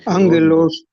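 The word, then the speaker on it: ἄγγελος: Y entonces eh cuando yo tengo una gama antes de una gutural, su sonido es como una ni. Por ejemplo, aquí tengo la palabra, a ver qué dice aquí. Lenos, por favor, este, ángelos.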